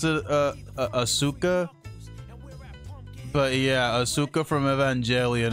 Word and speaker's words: Asuka: see auka from or I think her you pronounced it uh Asuka but yeah Asuka from evangelia it's like I